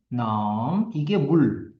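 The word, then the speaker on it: น้ำ: 발음 은 ' 남 ' 과 ' 솜 ' 이고 , 여기서 는 오렌지 를 의미 합니다 .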